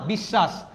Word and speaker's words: বিশ্বাস: যে যেমন এখানে কি লিখছি বিশ্বাস নাকি বিশ্বাস বিশ্বাস অসব না অশব না বিশ্বাস তার মানে কি লাস্টে